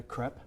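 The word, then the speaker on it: crêpe: a side street we wanted to get a crep did I say right you said it right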